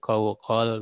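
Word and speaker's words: قوقل: Nah, biasanya para ulama menjelaskan dengan cara seperti ini, dengan cara misalnya dua kopnya difatahkan, nah berarti qawqal begitu.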